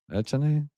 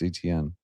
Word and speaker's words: Etienne: Is that pronounced right? Etienne? ETN.